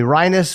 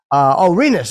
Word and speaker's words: Rinus: Is it Rinus VK or is it Rinus VK? Jake, if you could tell me, Rinus would be the first option, and Rinus. Rinus. Okay, good. I'm glad I asked. Rinus VK.